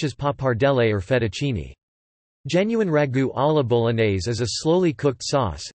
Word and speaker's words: ragù alla bolognese: Bolognese sauce UK, US, known in Italian as ragù alla bolognese, pronounced ragù alla bolognese, ese, ragù bolognese, or simply ragù, is a meat-based sauce originating from Bologna, Italy, hence the name.